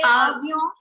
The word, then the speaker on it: avion: First of all, it's avion, not avion. Why are you pronouncing? Why are you giving N its complete sound when it is falling in the end?